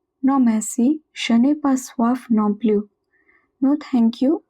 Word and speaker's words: soif: Non merci, je n'ai pas soif non plus. No thank you, again je n'ai pas, I do not have. Soif, it means thirst. Remember that OI is pronounced as OA.